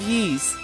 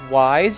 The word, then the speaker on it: Ys: This looks like one of the holy artifact of Yee's. Yeah. Okay, funny story. I used to call the game Wise because I didn't know the correct way to say it, but it's actually Yee's.